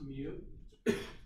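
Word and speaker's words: μ: It's not u, it's actually the Greek letter for m, so it's pronounced mu.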